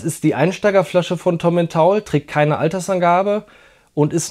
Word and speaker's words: Tomintoul: Nämlich heute probieren wir den Tommen Taul Tla, wird Taul ausgesprochen. Das ist die Einsteigerflasche von Tommen Taul, trägt keine Altersangabe und ist eine Mischung von verschiedensten Whiskys, verschiedene Altersangaben.